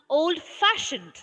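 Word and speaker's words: old-fashioned: So we have to stress the first syllable of the second word. First syllable. This one. So how will you pronounce? Old fashioned.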